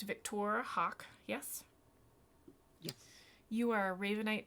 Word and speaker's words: Victoire Hawke: okay let's see here we've got now it's pronounced victor hawk yes yes you are ravenite dragonborn monk okay